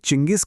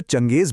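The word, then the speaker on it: Chinggis: आज हम जो चंगेज बोलते हैं वो असल में इसी शब्द के उच्चारण का एक पश्चिमी तरीका है।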